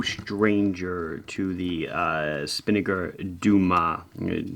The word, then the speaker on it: Dumas: to the uh spinnaker duma spelled dumas d umas but i guess in pronunciation the s is silent but i always think